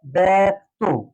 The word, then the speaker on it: ব্যক্ত: যেমন এখানে উচ্চারণটা হয় ব্যক্ত। ব্যাক, এটা হচ্ছে বদ্ধাক্ষর ব্যাক। তো যেহেতু যুক্ত বর্ণের শেষ যে বর্ণটি লিখবো সে বর্ণটির সাথে ওকার যুক্ত করবো, ব্যক্ত হয়ে গেল ব্যক্ত।